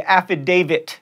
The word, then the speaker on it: affidavit: not axe tricks and affidavit there's a T at the end there not a deed if you're chuckling that